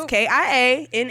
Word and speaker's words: Kiana: There's no Q in Kiana. Okay, it's Kiana, Rebellious, Rebellious.